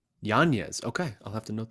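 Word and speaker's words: Yañez: mispronouncing yeah there's a there's a teal day over the end it's supposed to be Yan yanes okay I'll have to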